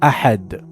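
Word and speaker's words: أحد: Mistake, Qul huwa Allahu ahad. Incorrectly pronounced. Correction, ensure proper articulation of ahad with a correct guttural sound of ha.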